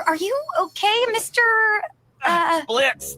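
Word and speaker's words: Blitzø: Uh Blitz? The O is silent.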